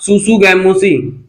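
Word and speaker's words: tsutsugamushi: Scrub typhus का जो positive agent होता है वो होता है रिकेट्सिया सुसुगैमुसी। रिकेट्सिया सुसुगैमुसी क्या है, आपको याद रखना है, यहाँ पर टी साइलेंट है।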